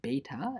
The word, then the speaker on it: beta: the Greek letters beta and epsilon this is pronounced beta and this is pronounced epsilon by the way